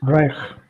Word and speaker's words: reich: word, guys, there are two combinations. The first combination is EI. How is I. EI pronounced? I. I. I. And I. then we have combination of Uh, CH. Sure. So pronounce it Reich.